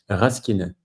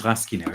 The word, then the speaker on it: Rasquinet: Do we pronounce the S or not? Rasquinet. Oh, so it's Rasquinet.